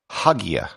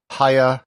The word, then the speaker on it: Hagia: a standard English speaker you might pronounce it Haya however that has never really been how it's been pronounced there's also haa haa with the H silent the standard pronunciation and what I'll be using in this episode is a this would be as if it were spelled a ya which is actually how it's spelled in Turkish in modern Greek it